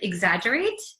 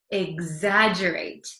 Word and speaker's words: exaggerate: exaggerate exaggerate so do you know the word exaggerate let's look at it again exagerate it looks like it's hard to um pronounce because there's an X there's two G's